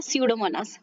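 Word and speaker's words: Pseudomonas: सो आपको ये नाम ध्यान में रखने हैं, अल्केनिवोरैक्स बोर्क्यूमेंसिन, अल्केनिवोरैक्स बोर्क्यूमेंसिन एंड स्यूडोमोनास, पी साइलेंट हो जाता है, स्यूडोमोनास। Okay, so these are called as हाइड्रोकार्बोनोक्लास्टिक bacteria, HCB इनको कहा जाता है, हाइड्रोकार्बोनोक्लास्टिक बैक्टीरिया इनको कहते हैं।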